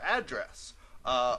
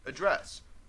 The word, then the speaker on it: address: Address or address. When I'm talking about the verb, I am addressing you right now. That's address. When I talk about the URL or internet address, I pronounce it that way.